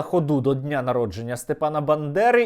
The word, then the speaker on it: Бандера: Ведучий телеканалу "Наш" настільки проникся ненавистю до Степана Андрійовича, що навіть не зміг правильно вимовити його прізвище. Вивішують портрети Бендери. Бендери. Та це не все. Засудила ходу до Дня народження Степана Бандери і підконтрольна російській федерації Білорусь.